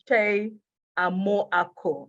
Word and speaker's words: Kyei Amoako: And so I'll say is Kyei Amoako. And I'm sure that I pronounced that very well.